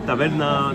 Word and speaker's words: taverna: called the Greek taverna, taverna. If you want to pronounce it a little bit more Greek. And tavern, taverna, it's a word used in many other languages.